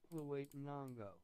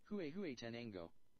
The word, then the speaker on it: Huehuetenango: Next time, pronounce... Okay. Huawei-nongo.